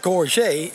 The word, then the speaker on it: gorget: The neck guard, this is a gorget. Pronounced in French, gorget.